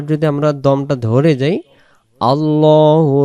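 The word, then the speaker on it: ٱللَّهُ: আল্লাহু।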